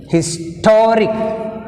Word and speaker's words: historic: Historic, historic, historic, toric, rick 1, to 2. Second syllable from the end means t.